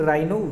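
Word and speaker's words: rhino: Indian राइनो की spelling में H silent है। Indian राइनो vision 2020 most important topic है दोस्तों इसलिए यह मैं आपको लिखवा रहा हूं।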